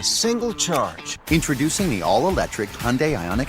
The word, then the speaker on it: Hyundai: It's drop the I, so it's not Hyundai. It's not Hyundai. It's Hyundai. Hyundai, why- like but there's why a do- Y on the end of it.